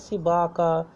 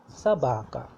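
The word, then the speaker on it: собака: have used it as sibaka or something like sobaka, something like that. It's not correct. It will be sabaka, sabaka, sabaka, because the stress is on the a, the first a after be, sabaka.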